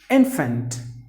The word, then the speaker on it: infant: And the next word is infant. Infant. There are only 2 syllables. The stress is in the beginning.